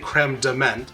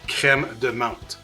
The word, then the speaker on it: crème de menthe: proper pronunciation, which is creme de menthe. So you got the creme, you got to roll your R's like a Frenchie, creme, and then it's